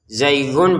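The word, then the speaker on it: زَيْغٌ: Zaighun bertemu fa. Ini tanwinnya bertemu fa baca dengan samar.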